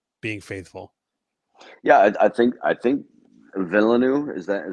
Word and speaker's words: Villeneuve: Yeah, I think Villeneuve, is that how you pronounce his Yeah, I name? think The it's Denis director Villeneuve.